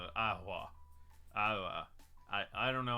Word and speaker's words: AiHua: Ahua. Ahua. Yeah, but what does it mean? Oh, here's a how to pronounce thing. How do you say this fucking word? Ihua.